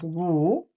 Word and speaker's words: 武: This is pronounced as 武(wǔ).